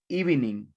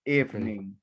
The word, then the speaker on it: evening: Adali, please don't say evening. Evening. Okay, good evening. Good evening. Okay, the EV disappears, the E, it disappears. So it disappears. So we say evening.